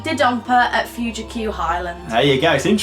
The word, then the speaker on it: Dodonpa: It used to be just Dodonpa. It's Dodonpa now. That's how you pronounce it. Dodonpa.